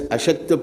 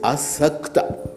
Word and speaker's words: Asakta: I read it as Ashakta Prana. I said, you Sashakta, you are not. Then she said, no, it is Asakta.